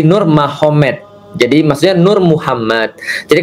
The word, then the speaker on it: Nurmagomedov: Jadi tulisnya Magomed, tapi bacanya Mahomet, kan gitu kan ya. Jadi Nur Magomedov itu jadi Nur Mahomet.